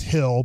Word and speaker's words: Gil: Now it's pronounced Hill, but it's Gil if you're wondering.